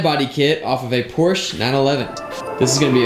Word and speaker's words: Porsche: tell me but also i'm trying to get myself to start saying porsche because i've read somewhere that that's how it's supposed to be pronounced but my entire life i've been saying porsche and so you're going